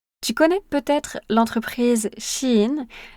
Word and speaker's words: Shein: Tu connais peut-être l'entreprise Chin. La prononciation est un peu différente selon les pays, mais ça s'écrit s h e i n.